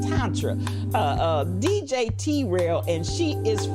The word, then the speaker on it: Tantra: So my babies were calling it tantrum sex, but it's pronounced Tantra.